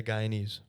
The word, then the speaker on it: Guyanese: there's a guyanese yeah guyanese from guyana ah did not know that that was the pronunciation of uh someone from guyana when you work at